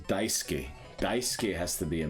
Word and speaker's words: Daisuke: Daisuke. Daisuke. Pretty sure you swallow the U or you don't pronounce it.